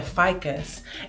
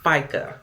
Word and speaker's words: FICA: Brenda said I have to pay a fas and the feds and the state. It's actually pronounced FICA, but yep, facts of life, my dear.